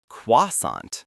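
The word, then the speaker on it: croissant: Quasant. Quasant. That nasal sound is difficult. It is, but keep practicing. The key is to skip that final T sound.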